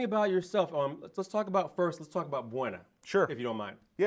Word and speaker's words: Buona: So people call it all different things, but yeah, it's just pronounced Buona now.